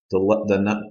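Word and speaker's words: 七: for seven in Chinese the number seven is T just like if you've ever heard of Tai Chi t is number seven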